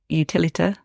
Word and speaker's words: Utilita: So the NIA, the Utilita.